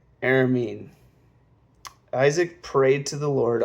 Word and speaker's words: Aramean: sister of Laban, the Aramean. Oh my gosh. Part of me wants to say Armenian, but I know that's not how that is supposed to be pronounced. Aramean.